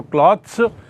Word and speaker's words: clothes: तो क्लॉथ का बहुवचन यदि होता है तो दो बहुवचन होता है, एक तो क्लॉथ्स जिसका अर्थ बिना सिले हुए, और दूसरा है क्लोथ्स, उसका उच्चारण भी थोड़ा अलग है, क्लोथ्स।